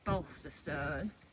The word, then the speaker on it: Bolsterstone: I I said it I've said it wrong a couple of times already, but it's Bolster Stone and it looks lovely.